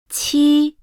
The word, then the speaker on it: 七: 七。七，七。 The pronunciation of 七。 is similar to that of 鸡。 but with a stronger airstream, as 七。 is an aspirated sound.